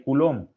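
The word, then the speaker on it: coulomb: definir lo que es el culón que suena raro pero se escribe así s colom cuando ustedes de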